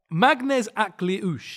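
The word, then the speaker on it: Maghnes: Magnes is how it's pronounced. I'm pretty sure Magnes Aklush.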